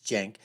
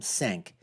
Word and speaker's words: Cenk: to tell sank and I know how the name is pronounced it's Jank but you know I call him sync anyways from The Young